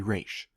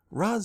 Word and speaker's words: Ra's: I don't care if it's supposed to be Raish. Raz sounds cooler, and I think is how most people read it.